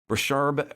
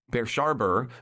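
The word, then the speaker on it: Brushaber: we get uh uh Bashar oh I mispronounce that bers sharber versus Union Pacific Railroad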